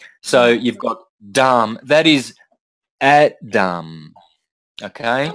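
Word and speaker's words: dhama: you don't pronounce the you don't pronounce the last a so you've got Dam that is AD Dam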